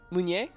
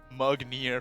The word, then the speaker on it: Meunier: How do you say it? Meunier. Meunier? It's French. I've been calling it Mugnier for the longest time.